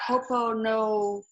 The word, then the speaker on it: Ho'oponopono: But anyway, how do you spell that? Ho'oponopono.